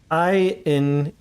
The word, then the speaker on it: Eingetopft: Eingetopft. The G is a hard G, like in ghetto.